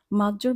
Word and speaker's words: maggio: মাজ্জোর বানানের দিকে যদি খেয়াল করব তাহলে সবার শেষে দেখব জি জি ই অ। এখানে জি ই অ এর উচ্চারণ জ এর মতো হয়, তাই আমরা বলবো মাজ্জো। এখানে কিন্তু আমরা গ এর মতো উচ্চারণ করব না জি আছে বলে।